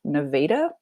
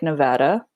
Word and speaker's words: Nevada: town in southern Missouri called Nevada, spelled like Nevada, pronounced Nevada.